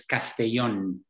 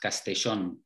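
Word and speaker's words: Castellón: in spain what's the name of it i'll pronounce it it's castellon castellan you see where i work but i'm living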